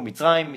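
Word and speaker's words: מצרים: Egypt is not the right way to say it. We say it in Hebrew, Mitzrayim.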